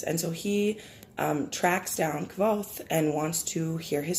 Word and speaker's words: Kvothe: So the main character, his name is Kvoth, I think is how it's said.